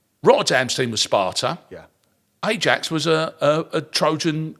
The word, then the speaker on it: Ajax: worth pointing out that in terms of pronunciation where we go AX and AX, all right? Or Ajax as as many of us did from my generation as you would do. And there's a logic to that.